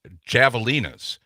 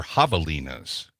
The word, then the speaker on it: javelinas: that we were talking about uh I was pronouncing it javalinas remember we were talking about the uh the